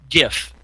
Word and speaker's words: GIF: give him a break gif he says gif I say is the right way to say oh yeah you know gif Bethesda that's it's not jiff in Reseda peanut butter made